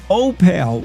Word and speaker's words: Opal: I've been told that you pronounce it O like the letter O and then pale like he's a pale of mine. Opel, which is true. That's how they say the name in Opel, but they're pronouncing it wrong. But you can't What are you going to tell uh 65 people in Opal that they're not saying their town right?